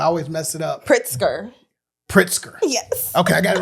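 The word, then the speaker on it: Pritzker: Pritsker.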